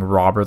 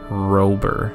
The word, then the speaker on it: Rober: Okay, I know I've been saying robber the whole time, and you're gonna hear that for the rest of the video probably, but I just realized now as I'm doing this voiceover that it's spelled Rober.